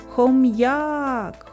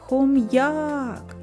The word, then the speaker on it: хом'як: складів скільки голосних звуків визначимо куди падає наголос покличемо хом'як хом'як сила голосу більше падає на звук а а це і означає